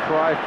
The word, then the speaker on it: Cruyff: When I tell you that you can say Cruyff or Cruyff, you can say Jordi or Jordi.